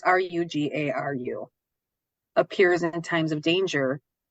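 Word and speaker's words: Rougarou: And Ojibwe of the Northern Plains believe that Bigfoot, or what they call Rugaru, I believe is how you say it. I'm not sure, but it's Rugaru, appears in times of danger.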